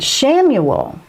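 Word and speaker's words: Chamuel: mindset okay now where does chamois come in samuel that is spelt c-h-a-m-u-e-l archangel samuel that one is wonderful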